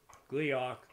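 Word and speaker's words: Gleeok: Gleok rhymes with peacock.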